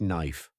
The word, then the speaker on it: knife: Take knife. Believe it or not, the K wasn't always silent. Long ago, people actually pronounced it something closer to kunife.